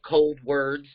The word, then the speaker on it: Coldwards: called cold words um pronounced like cold words but um it's me